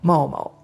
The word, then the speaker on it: 猫猫: ま、日本語の音読みで言うと病びとかになりますが、ま読み方です。ちょっと音の高さは違うんですけど、まおまおですね。